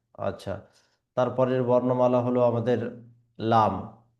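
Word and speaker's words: لام: এই লামের ক্ষেত্রে আমাদেরকে 3 আলিফ বরাবর টেনে পড়তে হবে। লাম, লাম। অনেকে লামকে পড়ে থাকে এইভাবে লাম, লাম। তাহলে এইভাবে যদি পড়ে তাহলে ওই উচ্চারণটি সঠিক হবে না, উচ্চারণটি ভুল হবে। এই জন্য সঠিকভাবে পড়ার জন্য মুখটিকে খুলে পড়তে হবে।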